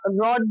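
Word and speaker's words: rod: अब रोड आता है, लेकिन यहाँ पर है ना रॉड भी, एक सेकंड, आर ओ डी जो है ये रॉड होता है, रॉड, है ना।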